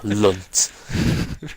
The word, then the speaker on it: Lunt: Oh, Lunt. Oh, Just saying it, Ugh. Lunt. yeah. Rhymes with cunt, so that's all you It need does.